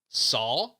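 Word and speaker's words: 사: It's because the Korean word for four is pronounced, probably pronounce this wrong, sa, which is also the pronunciation for the Korean character, like their letter, for death.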